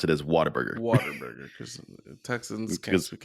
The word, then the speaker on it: Whataburger: So Doughboy said Whataburger. Go ahead, Mateo. What a burger. What a burger! what But a everyone in burger. Texas does pronounce it as Whataburger. Waterburger, because Texans can't Because- speak English.